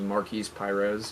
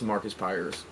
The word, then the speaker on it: Marcus Pyres: We mispronounced his name last week. I said it was Marquise Pires. Powering off. It's Marcus Pyres.